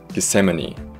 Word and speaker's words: Gethsemane: gethsemane that's it that's i had to look up how to pronounce that but yeah i just kind of